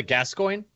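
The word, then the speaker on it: Gascoigne: why I keep calling him father G father gascoin oh is that how you say it okay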